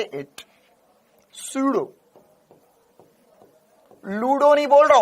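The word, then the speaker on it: pseudo: अब पी से, अब सर पी से शुरू, तो ये तो पीडो फोर्स हो गया। पी साइलेंट है इसमें, पी साइलेंट है ना, तो एस से बोलेंगे सूडो फोर्स, लेकिन लगेंगे पी से,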